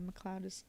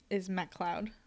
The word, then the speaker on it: MacLeod: The Scottish pronunciation of MacLeod is MacLeod, but no real Scot spells the name with the word cloud in the spelling. Those are the fake MacLeods that are never invited to the family reunions.